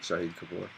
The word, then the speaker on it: Shahid Kapoor: Shahid Kapoor. Shahid Kapoor.